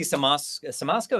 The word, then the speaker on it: Siemaszko: And Casey Siemaszko, is that how you say his name?